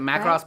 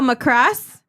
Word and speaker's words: Macross: Is it Macross Plus?